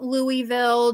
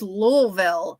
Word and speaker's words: Louisville: for every body's knowledge do not call it Louisville do not do not ever call it Louisville because I work with a bunch of people who are in Kentucky and if you call it Louisville they will I mean they will like hang you they will burn you at the stake it is louville okay they get so